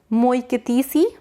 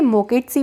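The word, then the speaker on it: Moeketsi: देखो, नाम क्या है, मोइकेतीसी मिजोरो। थोड़ा सा अजीब सा नाम है, हिंदी पे इसे मोकेटसी भी पढ़ सकते हैं, इंग्लिश में अगर हम पढ़ते हैं तो थोड़ी सी प्रोनाउंसिएशन चेंज हो जाती है।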